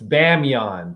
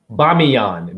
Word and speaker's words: Bamiyan: okay hold on hold on it's bae it's bamiyan pardon me i'm pronouncing it wrong i think hold on hold on hold on bamiyan b-a-m-i-y-a-n okay pardon me so here it is